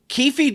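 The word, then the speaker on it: Keffe D: right now so and I was pronouncing it wrong the whole time I found out it's Kefi not ke yes kefy D so Kefi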